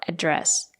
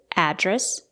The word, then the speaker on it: address: word let's get started if it's a noun you can say address or address both pronunciations are correct you can stress the first syllable address what's your address or